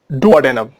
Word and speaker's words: duodenum: डोडेनल, duodenum, both are correct pronunciations.